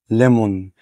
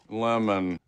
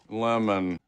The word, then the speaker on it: lemon: مفيش حاجة اسمها ليمون، مفيش حاجة اسمها لايون. اسمع كده وتعال اقول لك ازاي تجيبه صح. تابع معايا. lemon, lemon, lemon.